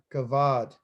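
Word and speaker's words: כבוד: It starts with a K. Kavod. Okay, or kavod or kavod, doesn't matter how you say it.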